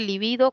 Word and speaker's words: libido: Existe también, este es lívido, que es esdrújula, pero también existe libido como grave, y esa se escribe con B grande o B normal, como lo queramos llamar, ¿no?